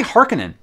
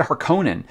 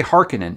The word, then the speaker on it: Harkonnen: rabon looks awesome guys the harkonnen is they say hearkening i've always had her conan but they do say hearkening in the movie so um i'm gonna